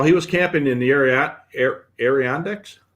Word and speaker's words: Adirondacks: So Scott put together a, while he was camping in the Adirondacks. How do you pronounce that?